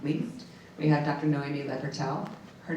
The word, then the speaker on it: Noémi Le Pertel: It's Noémie Pertel, but you got it.